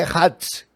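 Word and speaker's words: אחד: Essa palavra único ou um, no hebraico, é Hadz. Esta é a pronúncia, é Hadz.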